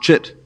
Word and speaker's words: chit: They call it chit, pronounced chit, pure consciousness, the fact of being aware prior to any particular content of awareness.